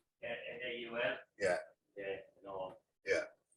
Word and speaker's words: Naul: It's Naul, isn't it? Naul. Vinny, is it pronounced Naul? Yeah, N-A-U-L?